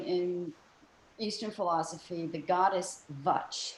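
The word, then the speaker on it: Vāc: Eastern philosophy, the goddess Vach. It's V-A-C with like a little hook on the bottom. And that C is pronounced like a CH, so Vach is a goddess, and she's a goddess of speech and language.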